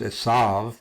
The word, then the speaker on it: Esau: And here we have the Hebrew spelling of Esau or Esau, or can also be pronounced Esav, because the last letter, the Vav here, has a V sound too.